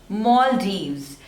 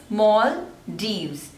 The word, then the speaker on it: Maldives: next is Luxembourg Luxembourg so there are three slavers and the stress is on the first one Luxembourg luxembourne next is